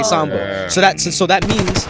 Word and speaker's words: SVMBV: my name they said mbv they didn't even say SoMo so that so that